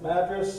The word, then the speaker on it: Madras: our reserved suv and drove down past mattress that's how they pronounce it and ended up just